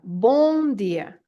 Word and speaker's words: bom dia: you wouldn't mind when filamina is teaching some pronunciation here go ahead and repeat after filina yeah Bor dear very good well done everybody uh then if